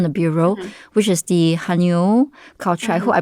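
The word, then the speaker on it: 해녀: another letter from the bureau, which is the haenyeo culture. I hope I pronounced that correctly. Haenyeo.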